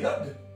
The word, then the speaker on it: yod: Alors, cette lettre, le yod, ça se prononce y.